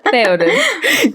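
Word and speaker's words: Théoden: How do you pronounce his Peepum's name? Theoden.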